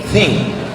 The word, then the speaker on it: think: Think positive thinking, berpikir, bukan thinking, think. T sama H itu bacanya think.